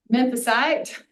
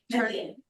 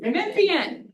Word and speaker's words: Memphian: well, as well as a local Memphisite, if that's the right way to say it. So, Memphian. Memphian.